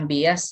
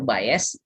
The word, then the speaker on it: Bayes: tentang eh biasa tentang bias dan varians GTA jadi fungsi dari kita setia biotite juga menghindari Day namanya Bayes jadi ini pronounce itu Bayes mungkin kalau Indonesia bilangnya bias Ya nah tapi polres ini